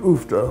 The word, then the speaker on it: Oovvda: We use the acronym and pronounce it Uvda, which is really spelled that way.